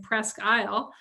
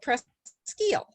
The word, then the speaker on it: Presque Isle: thing i learned was how to say eel press eel i have been saying presque isle well it's if you are down at the one in detroit there is a presque isle in detroit spelt exactly the same that's on the detroit river but the one up in northern michigan is called pres steel just to be different they're both spelled the